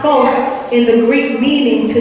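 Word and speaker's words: φῶς: Let your light, pronounced phos in the Greek meaning to shine or make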